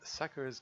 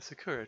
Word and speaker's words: Sakura: The husband was hanged on a Sakura tree. Sakura. I think in Japanese that you're supposed to pronounce you're supposed to put the emphasis on the first syllable.